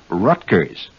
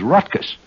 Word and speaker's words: Rutgers: So when you say Rutgers, this is not the correct pronunciation. It is Rutgers.